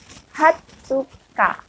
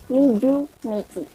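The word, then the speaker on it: 二十日: Dalam bahasa Jepang, tanggal 20 disebut Hatsuka, bukan Niju Nichi.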